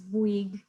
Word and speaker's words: Bouygues: in 60 countries, and the pronunciation of that word there is Bouygues. It is a bit difficult, and it's a French company, so not everybody can pronounce it correctly.